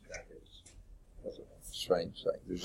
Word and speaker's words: Natchitoches: Natchitoches. That's a strange thing. There's also a Natchitoches, Mississippi, I think, which is spelled even differently, but they're pronounced very similarly.